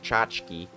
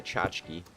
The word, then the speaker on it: tchotchke: Yeah, tchotchke, which is spelt weird. It starts with a T. It's a Yiddish word for trinket.